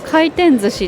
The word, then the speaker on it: 回転寿司: でこの漢字は回転寿司っていうんですけ